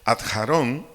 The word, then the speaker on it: Aarón: hebreo hebreo perdón a Aarón a K J a r o n acento en la o Aarón su significado nuestro idioma